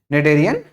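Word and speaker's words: Schneiderian: Neurosensory epithelium, generally also called as olfactory epithelium या फिर निडेरियन membrane, है ना। क्या बोलेंगे? निडेरियन membrane. ठीक है, स्पेलिंग पे मत जाइएगा, ठीक है, इसको प्रोनाउंस करेंगे क्या? निडेरियन membrane.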